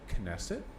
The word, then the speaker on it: Knesset: an individual's personal thoughts um pronounce the k and nesset knesset really okay and beliefs